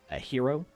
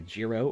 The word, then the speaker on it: gyro: to what we would call a hero or a gyro or a gyro, depending on which state you're from and what your ethnicity is. Yeah, and of course they all argue about the right way to say it. I would usually say euro.